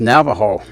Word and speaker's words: Navajo: the spaniard heard it they gave it the spanish pronunciation and spelling and today it is uh pronounced navajo in this time period it